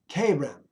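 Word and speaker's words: חֵרֶם: 2764 is pronounced kerem.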